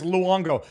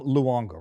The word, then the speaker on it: Luongo: Some people some people might not remember who Tom Luong is Tom Luongo, right? I'm Tom Longo. Yeah, he usually people just don't pronounce the U.